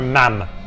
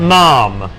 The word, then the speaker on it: ma'am: you're supposed to call her ma'am which rhymes with ham they always say ma'am to rhyme with ham not mom yeah it's mam to rhyme with hams that's what you're supposed